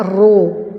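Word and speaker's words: ρ: t tapi agak miring ini adalah dibacanya roh ya er huruf2 jenis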